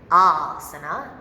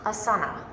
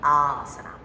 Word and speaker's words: asana: It is in fact pronounced asana, not asana. Just so you know, there is a correct pronunciation, and it's a long A, asana.